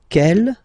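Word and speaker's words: quelle: that q l l but it's pronounced like the masculine form Kell the masculine k at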